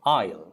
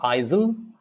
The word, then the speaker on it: aisle: to walk that pathway is called an isle so aisle it's not isil isle so that's the silent s let's go to the